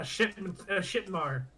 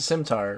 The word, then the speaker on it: scimitar: It's a Scimitar, right? No. Well, I mean, yeah, you're saying it wrong. It's a sim.